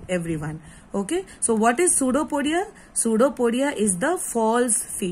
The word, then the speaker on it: pseudopodia: P is silent. It is called as pseudopodia.